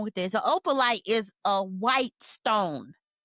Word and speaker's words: Opalite: But did you see what they were talking about with that opulence? No, I'm saying it wrong. Opalite, which is Opalite.